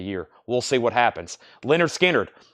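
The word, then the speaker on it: Lynyrd Skynyrd: Leonard Skinner, pronounced Leonard Skinner, $36.99.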